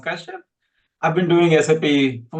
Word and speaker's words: Kashyap: Last name is pronounced Kashyap.